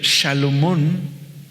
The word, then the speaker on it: Salomón: De hecho, Shalomón, es como se pronuncia, significa pacífico y proviene de la misma raíz, paz.